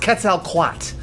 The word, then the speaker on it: Quetzalcoatl: It's pronounced Quetzalcoatl.